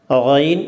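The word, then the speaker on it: غ: പക്ഷേ ഉച്ചാരണം മറ്റ് ഭാഷകളില്ല. ആ, ഐൻ എന്ന് പറയുന്നത് നമ്മുടെ തൊണ്ടയിൽ ഇങ്ങനെ പിടിക്കുമ്പോൾ ഉണ്ടാക്കുന്ന ശബ്ദം. ഐൻ, ഒയിൻ എന്ന് പറയുന്നത് നമ്മൾ വെള്ളം ഒക്കെ തൊണ്ടയിൽ കൊണ്ട് ഗാർഗിൾ ചെയ്യുമ്പോൾ ഉണ്ടാക്കുന്ന ശബ്ദമാണ്.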